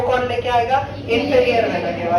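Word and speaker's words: vena cava: Superior वेना केवा, कुछ उसको वेना कावा बोलते हैं, आपको जो प्रोनाउंस करना है कर लो, उसको बुरा नहीं करता।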